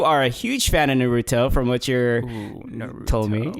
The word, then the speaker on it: Naruto: and I was like no it's Naruto not Ruby tell oh it's just the